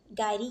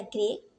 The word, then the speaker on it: gyri: गायरी या ग्रे, ये दोनों प्रोनाउंसिएशन करेक्ट है, आप कुछ भी प्रोनाउंस कर सकते हैं, एक गायरी।